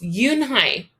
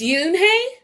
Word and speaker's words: Unhei: no no unhe corrected it's spelled u-n-h-e-i it's pronounced yoon hai oh it's yoon hey the boy said like you hey what about